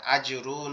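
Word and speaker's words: أجرٌ: আজরুন, এখানে জিমটা দুই দাঁতে চেপে শক্ত করে চেষ্টা করবেন, তারপরে গয়িনটা গালের মধ্যে থেকে।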